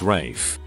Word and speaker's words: Ralph: usually a jaeger-le culture being called ralph but pronouncing it rafe my mother while not